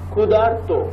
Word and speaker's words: ক্ষুধার্ত: দেবর্ষি, দেবর্ষি মাঝখানে অর, শীতার্থ মাঝখানে আর, ক্ষুধার্ত আর, তৃষ্ণার্ত, ভয়ার্ত, ক্ষুধার্ত মাঝখানে আর।